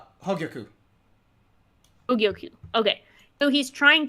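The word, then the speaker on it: Hōgyoku: Hogyoku.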